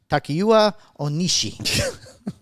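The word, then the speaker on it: Takuya Onishi: Kim and Japan Aerospace Exploration Agency JAXA astronaut Takeuya Onishi.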